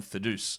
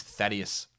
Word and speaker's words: Thaddeus: uh thad young who i often will deliberately mince mispronounce as this because i heard someone say that on like some sort of podcast somewhere and was actually calling him fiduce no it is uh it is thaddeus my guy there is